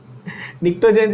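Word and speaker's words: Pnictogens: निक्टोजेंस is spelled with the P। The P is silent, okay? Just like pneumonia, है ना? निक्टोजेंस।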